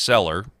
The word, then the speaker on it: Celler: The Hart-Keller Immigration Act, and that may be pronounced Seller.